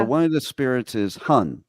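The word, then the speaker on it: 魂: insightful okay so one of the spirits is Hun right that's how it's said hun okay yeah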